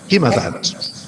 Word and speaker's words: Himavant: which the poem calls Himavant. I'm using Eliot's own pronunciations here, and I'm aware that there may be different or perhaps better pronunciations of those terms.